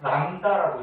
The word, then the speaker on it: 람다: 이름 읽을 때는 람다라고 읽어주면 돼요.